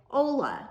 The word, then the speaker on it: hola: in Mexico you say Ola that H is silent saying goodbye in Mexico